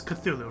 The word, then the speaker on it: Cthulhu: So when it comes to the pronunciation of Cthulhu, I know everybody says Cthulhu, right? That's pretty much how everyone pronounces it these days. So that wasn't always the case.